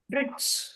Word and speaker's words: bridge: பிரிட்ஜ் Bridge. இது நம்ம தப்பா உச்சரிப்போம்.